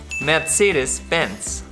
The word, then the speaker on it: Mercedes-Benz: Now, the correct pronunciation is Mercedes-Benz. No, in German, the R is like a G. Mercedes. Yeah, but also not too much because otherwise you sound French. Mercedes-Benz.